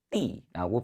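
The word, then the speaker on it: 地: 이 땅지자 떠가 정말로 땅의 의미를 가지고 나올 때는 떠가 아니라 사성으로 띠라고 발음해 주셔야 됩니다.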